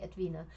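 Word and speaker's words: Edwine: at the end but it's not a silent E so you do actually say Edwina and I'm so I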